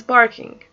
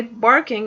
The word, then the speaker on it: parking: problem is parking parking if I say barking because given another meaning by safe parking ok gives another different meaning if someone's hearing me right now they second say what would you mean barking now it's supposed to be parking but I think that